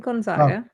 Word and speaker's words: Gonzaga: mark ruffalo ginger gonzaga or how would you pronounce that vanessa that was right gonzaga thank you jimmy jamila jamil uh steve